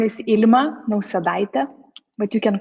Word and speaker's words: Ilma Nausedaite: don't butcher it yes so my name is Alma no Salida but you can call me